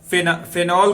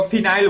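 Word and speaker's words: phenol: तो जैसा कि हम लोग जिस सोसाइटी में रहते हैं उसमें फेनॉल को फिनाइल बोला जाता है। क्या? फिनाइल, लेकिन वो होता है फेनॉल।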